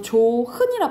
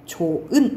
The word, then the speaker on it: 좋은: 현상을 얘기하는 거야 그래서 우리가 이거 조흔이라 바람 안 하잖아요 그렇죠 어떻게 발음해 좋은 이렇게 발음하죠 이것도 마찬가지잖아 우리가 이렇게